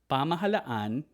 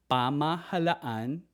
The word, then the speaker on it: pamahalaan: Nan so in the in the Tagalog language you actually pronounce both A's or both vowels pahal pahal which means government pamahalaan is government pamahalaan means government used in